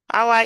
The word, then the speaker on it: hour: So we have r our is like it's a vowel. Some people will say a that um this is h but here you can you can listen the h is silent there.